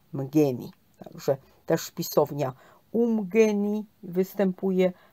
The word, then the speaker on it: Umgeni: Też jest nazwa Umgini czy Amgini. To jest angielska wymowa, natomiast zuluska jest Umgini czy Mgeni.